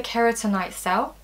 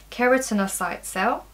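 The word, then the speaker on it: keratinocyte: cells one is the keratin night cell I pronounced that wrong keratin our site cell the keratin our sites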